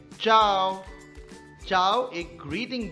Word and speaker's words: ciao: चाओ स्पेलिंग है CIAO, मगर प्रोनाउंसिएशन है चाओ।